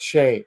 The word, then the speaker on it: Shea: So if you're a Billy Joel fan, you must check out Last Play at Shea. SHEA is the pronunciation.